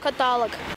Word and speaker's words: каталог: жалюзи каталог обеспечение жалюзи каталог запоминаем правильное ударение обеспечение как глаголе обеспечить на е жалюзи это французское слово ударение на последний слог каталог здесь легко запомнить каталог мне помог язык до Киева доведет